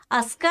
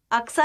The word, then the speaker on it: Al-Aqsa: अस्का है वो, अक्सा नहीं है.